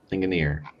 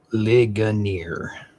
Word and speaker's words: Ligonier: Up next got Brimfield, Aaka, and Linganir. I pronounced that correctly. I probably ligonier. Gotcha. I was adding an extra N. There's no N in there.